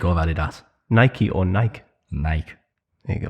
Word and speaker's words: Nike: Nike or Adidas? Adidas. What? You don't say Adidas, do you? Adidas or Adidas? It's Adidas, but I prefer Nike over Adidas. Nike or Nike?